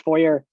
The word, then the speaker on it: Fourier: be pronounced fourier but they said it was pronounced foyer which is basically you